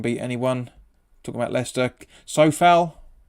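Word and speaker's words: Souček: Sofal, apparently it's how you pronounce it, like Kufel.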